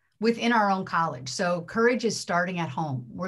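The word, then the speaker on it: CoREJ: racial equity and justice it's spelled c-o-r-e-j it is an unconventional spelling of the word courage but it works phonetically and i think it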